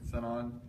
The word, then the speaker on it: Sinon: I always pronounced it Shion instead of Sinon.